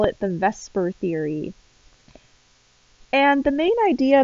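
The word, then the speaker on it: VSEPR: very long name so we tend to use the acronym v-s-e-p-r but we pronounce it vesper so we call it the vesper theory and the main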